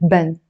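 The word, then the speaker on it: بن: which is coffee beans in Standard Arabic they would pronounce it bun in Lebanese we pronounce it Ben you know when you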